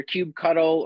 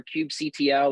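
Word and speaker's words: kubectl: do when you run your Cube cuddle or cube CTL or cubectle however you want to pronounce that word uh commands it goes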